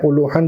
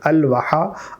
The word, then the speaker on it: الوحا: الوحا، الساعہ الساعہ الساعہ۔ بعض لوگ الوحن بھی پڑھتے ہیں، الوحن ٹھیک تلفظ نہیں ہے، الوحا الوحا الوحا۔ ایسے آپ نے پڑھ